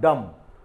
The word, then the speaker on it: dumb: Silent letter यहां पर बी है। पहला हमने लिखा है डम, DUMB, ये दोनों कंसोनेंट है, एम और बी ये दोनों कंसोनेंट है। तो यहां पर हम डम यानी बी हमारा यहां पर साइलेंट